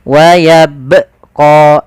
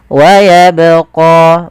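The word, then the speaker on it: ويبقى: menambahkan Hamzah di situ misalkan waabqo ini menambahkan Hamzah harusnya Bagaimana harusnya yaitu waabqo mengalir suaranya kemudian huruf qo di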